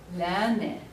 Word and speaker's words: lerne: Or if we have a verb conjugation like lerne, no silent E, we have to hear it.